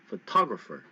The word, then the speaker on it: photographer: No, it's photographer, photographer, photographer, photographer.